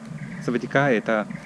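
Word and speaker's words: สวัสดีค่ะ: «Савадика» по-тайски — это приветствие, если его произносит девушка. А Савадикап — это привет. Здравствуйте, если это говорит мужчина. И они действительно выделяют последнюю букву А.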